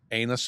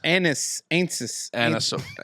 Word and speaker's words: anise: That anus oil, or what's it called? That sounded really bad. There is no anus oil in black licorice. I don't know how to say it. Anise.